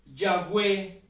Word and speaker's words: Yahweh: Ese en el castellano, en el español, se puede pronunciar Yahvé, Yahweh o Jehová, pero todo esto, todos esos nombres que son uno solo o que son lo mismo, significan el que es.